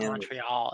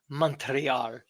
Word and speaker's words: Montreal: Yes, it's not Montreal. It's Montreal.